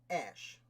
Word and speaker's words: Ashe: Alright, so our next founder is John Ashe. Perhaps it's pronounced Ashy.